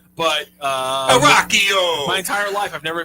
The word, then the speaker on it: Rocchio: He pronounces it Rocchio, and which I actually think is probably closer to the real Italian description. But Rocchio.